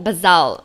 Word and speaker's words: Bazzell: So back to the book, Michael Bazzell, right? Is that how you pronounce his name?